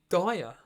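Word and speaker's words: Dier: It's pronounced Dyer, right? Okay. Dyer, yeah.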